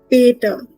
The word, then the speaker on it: Peter: For example, if we say the word Peter, we read this word as Peter. Remember Peter Parker, Spider-Man, Peter Parker. But in German, you will read this word as Peter. Peter. Why? Because E is A in German, right? So we read it as Peter.